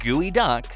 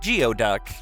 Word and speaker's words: geoduck: This giant mollusk, pronounced Gooeyduck, not geoduck, might just be one of the ocean's most bizarre-looking creatures.